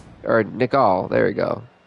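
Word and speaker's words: Nickal: As the 8-1 champion Jack Hermanson takes on the debuting Bo Nickel. Or Nicol, there we go. Bo Nicol.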